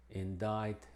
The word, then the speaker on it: indict: Y curiosamente es muda en algunas pocas palabras, unas menos de 10, como czar, indict, and muscle.